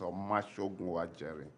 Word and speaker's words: Omashogunwa Jerry: I will answer for this, and the right pronunciation is Omashogunwa Jerry.